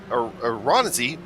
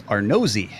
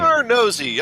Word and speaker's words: Arnozzi: It's Arnozzi is his last name. Arnozzi.